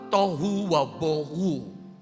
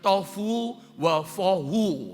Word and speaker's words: tohu wabohu: itu disalin dengan kata tohu wabohu. Atau ada orang membacanya tofu wafohu, saudara ya. Tohu wabohu, biasanya kalau kami baca.